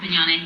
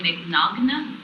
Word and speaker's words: Mignogna: the next Vic Mignogna, but instead of Mignogna, he'd say Mignogna. I am the next Vic Mignogna. So it's like, clearly you know how to pronounce his name.